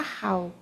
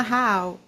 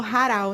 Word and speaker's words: Rahal: Escreve R-A-2-H-A-L, mas fala Rahal. Mas normalmente o pessoal fala Raal. Você falou Haral, né? Você só trocou.